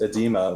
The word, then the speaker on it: oedema: The O is really silent, but instead Michael's going to make a better play here, which is what I wanted to see him play.